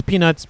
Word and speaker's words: Peenutzzz: I like, emphasizing the Z at the end because there's a couple of Z's at the end. Anyway, it's just, it's Peenutzzz, but, it's just the way that his name is spelt and whatnot.